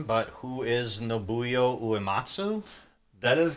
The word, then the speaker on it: Nobuo Uematsu: I might butcher the pronunciation, but who is Nobuyo Uematsu? That is correct. Nobuo Uematsu.